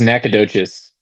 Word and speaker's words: Nacogdoches: 2nd Houston and then in there yeah it's pronounced Nacogdoches it's a it's a little like a smaller